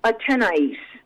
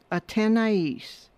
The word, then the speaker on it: Athénaïs: It's and this is hard, because you look at the name, you see the S on the end, and you think you don't pronounce it, but yes, you do.